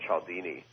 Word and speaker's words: Cialdini: of this gentleman, and I may pronounce his name wrong, but Robert Cialdini. Yeah, said it right.